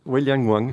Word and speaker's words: Wei Liang Wang: van Helmont, la soprano Wei Liang Wang, je prononce bien? Wei Liang Wang, c'est bien ça.